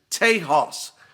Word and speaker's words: Tejas: Clyde Young finally sent me the correct pronunciation on this. Tejas. Tejas is how I believe that you say that.